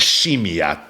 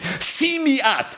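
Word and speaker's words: שמיעת: Oh by the way, the right way to say this is Shimi'at, but in yeshiva I'm pretty sure it's Simi and not Shimi. So we're going to go with Simi. Forgive me. Simi'at.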